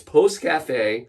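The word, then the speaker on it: Pousse-café: say this word literally all day but it's Post Cafe you've been doing great I've been doing great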